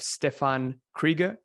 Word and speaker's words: Stefan Krieger: interviews today we have stefan krieger stiff am i pronouncing it right yeah yeah so it's a dutch name so it's quite difficult but uh it's right